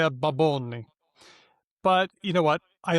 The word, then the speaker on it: Bad Bunny: Say it properly. Baboni. Baboni. Baboni. Yes. And Nicole Holidayiday on TikTok has done an excellent job of explaining why Puerto Rican speakers say it that way.